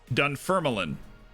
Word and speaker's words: Dunfermline: It's spelled like Dunfermline, but Dunfermline. Dunfermline. Doing a firm line.